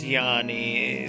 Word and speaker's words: Yoni: Yoni pronounced Yanni, Sanskrit for the female organ of generation.